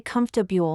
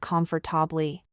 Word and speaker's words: comfortable: we pronounce comfortable correctly you should say comfortable not comfortably the pronunciation is simpler than it's written got it are there